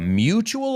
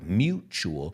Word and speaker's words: mutual: We just came to a mutual understanding. Vamos a pronunciar esta, por favor. Mutual. La U es U y la T es ch. Mutual. Yo sé que mutuo en español.